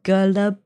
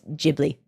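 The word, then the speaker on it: Ghibli: It's pronounced gully. Are people are are you are are you all It's gibber. One second. Let me look it up. I'm going to find out how it's pronounced in Japanese. Uh, studio. I stand corrected. I stand corrected. I stand corrected. It's Jibli. I can admit when I'm wrong. Sorry. It's It's It is Jibli.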